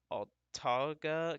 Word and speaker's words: Autauga: So this is for northwestern Autauga County. I highlight that, that's how you pronounce it.